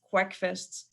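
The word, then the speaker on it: QGIS hackfests: hack fests or and they're pronounced quackfests so you're invited every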